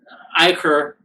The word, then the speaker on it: Ichor: Yeah, Ichor, the correct pronunciation.